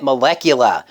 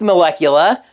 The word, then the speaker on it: Malechula: That can still be pronounced Molecula. I just found it weird.